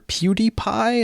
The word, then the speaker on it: PewDiePie: and uh also YouTuber PewDiePie is that how you say it it's like CutiePie right I believe so okay he posted a